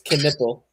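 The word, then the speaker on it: Knueppel: It's Knippel. Knappel, whatever.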